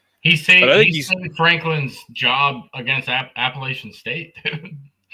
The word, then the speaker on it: Appalachian State: He saved Franklin's job against Appalachian State. Appalachian State.